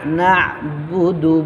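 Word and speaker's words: نَعْبُدُ: এটা হইতেছে আপনার হামজার উচ্চারণ, হামজাটা হলকে শুরু থেকে হামজা হা, আর আইন হইতেছে মধ্যখানে হইতে। ইয়াকা না'বুদু, বুদু, বা পেশ বু, দাল পেশ দু, বুদু।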